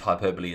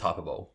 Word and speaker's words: hyperbole: the only person who reads hyperbole is hyperbole yeah or what's the